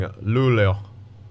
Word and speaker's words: Luleå: The A with the little circle over it in Swedish is actually pronounced with a more of an O sound. Like when we were covering Luleå.